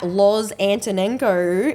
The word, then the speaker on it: Loz Antonenko: anywhere on social so Lo antono and you say it and spell it the same way a n t o